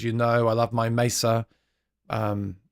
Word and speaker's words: Mesa: know I love my Mesa um I always say it wrong Mesa Mesa Boogie Mesa Boogie not Mesa Boogie I love my My